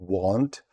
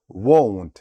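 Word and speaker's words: won't: Not можливо скорочення won Зверніть увагу на вимову ми не вимовляємо want ми вимовляємо won I will скорочення I'll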